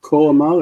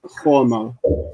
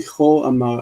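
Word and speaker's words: כה אמר: It's not ko'amal, it's cho'amal, because it's connected with a conjunctive accent, the munach. And so it's ki cho'amal Adonai Elohim Yisrael.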